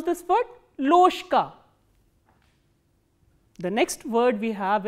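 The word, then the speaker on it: ложка: Loshka. Why loshka? Because again there is a voiced consonant coming before the voiceless consonant.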